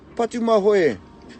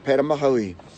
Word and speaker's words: Patumahoe: two day number two but do my way not parama holy